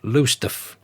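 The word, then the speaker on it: Lowestoft: narrated and that's Steve 1955 from kessingland in low stof suffk England thanks Steve I'll volunteer that I do know LOF is actually pronounced lusta Steve you're in the next count to me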